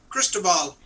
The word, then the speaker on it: Cristobal: Are y'all getting any of that hurricane crystal ball or whatever? Glenn, how do you pronounce that hurricane? Cristobal.